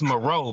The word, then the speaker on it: Moreau: It's Moreau, bro. You ain't even pronouncing it right. Maru, nigga? It ain't Maru, it's Moreau.